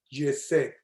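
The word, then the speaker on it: חסד: Yesed, esa palabra, todo eso que ella dijo se reduce en hebreo una palabra que se pronuncia Yesed.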